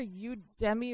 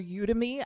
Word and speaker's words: Udemy: To talk a little bit about Udemy. Is that how it's pronounced? It's either Udemy or Udemy, I think. Depends on who you ask.